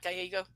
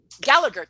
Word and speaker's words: Gallagher: Oh gosh, am I getting his name wrong? Is it not Gallego? Somebody tell me. Gallagher.